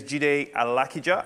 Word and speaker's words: Jide Alakija: all right so hi everyone my name is Judy Alec Eger I am a british-born Nigerian in case all